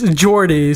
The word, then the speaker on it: Jordi: It's Jordi.